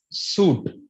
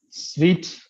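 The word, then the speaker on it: suite: we pronounce it as suit the actual or the standardized pronunciation for that particular word is sweet just like what just like just like how you pronounce the word sweet s we t a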